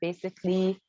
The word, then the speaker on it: basically: And also letter A is silent, is silent A before double L and Y, like basically, logically, separately, and so on.